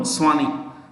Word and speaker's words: Sawhney: Then CEO, next point, CEO is Manu Swani, Manu Swani, SAWHNEY, Manu Swani, in brackets India.